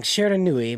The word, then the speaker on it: Shiranui: Um, Street Fighter 6 is because both Terry Bogard and I always get her name wrong. Mai Shara. Sure, I always get Nui. it. I always get it wrong. Shiranui, my apologies, are the first guest characters in Street Fighter.